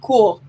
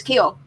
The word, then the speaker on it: Kuehl: have the announcers right they always say my name cool and it used it wasn't we never say her name was cool we said it was keel that's how it's always been said and then the announcer just keeps saying cool and it's just come